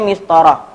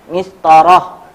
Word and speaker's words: مسطرة: Nah ini pada asalnya dia dibaca itu dengan h, mistoro, sebelum ditambah dengan kata ganti.